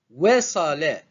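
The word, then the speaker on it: وصل: Wasala. Wasala. Pareil, ce verbe est composé de 3 syllabes simples. We, sa, le. We, c'est une syllabe simple.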